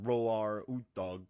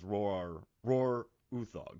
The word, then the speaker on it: Roar Uthaug: thug so uh they i read the nordic pronunciation it's like roar dawg but you know he pronounces as rohr uthug so i feel good